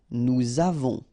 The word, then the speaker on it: nous avons: two, and then avoir, to have, nous avons, all right, so remember, pronom personnel, then the verb, you make the liaison.